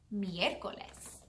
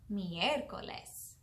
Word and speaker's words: miércoles: Miércoles. Miércoles. All right, it's your turn. Miércoles. Muy bien. Miércoles is spelled M-I-E-R-C-O-L-E-S. Miércoles. And if you notice, we put all of our sound on the E, right?